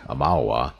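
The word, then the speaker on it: Aumaua: Following the Broken Stone War, the Amawa, I finally figured out how to pronounce that, by the way, Amawa, thief traveled south to Abet, then on to Nasatak.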